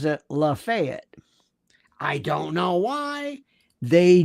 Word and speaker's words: Lafayette: in um in Florida, Florida where I'm from, they have a county called, you would think it would be Lafayette, but they pronounce it Lafayette.